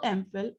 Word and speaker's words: MPhil: Note that these words are pronounced with the vowel sound A at the beginning, although they are written with the consonant M or L.